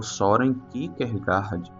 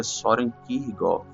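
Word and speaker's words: Søren Kierkegaard: cristão que é o Soren Kickergard, mas a pronúncia mais exata, né, por ele ser dinamarquês é Soren Kirgov.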